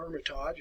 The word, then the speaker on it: Hermitage: your schedule to go by the Hermitage, or Hermitage as they would pronounce it in some countries anyway, home of Andrew Jackson.